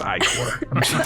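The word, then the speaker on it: ichor: Also, the phonetic spelling of it is Icor, so I'm just letting everyone know it's pronounced Icor.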